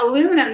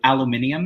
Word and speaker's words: aluminium: track friends oh yeah aluminum that's a bad word well he's saying it's uh because in british it's aluminium aluminium is how they say it and we say aluminum which drives him crazy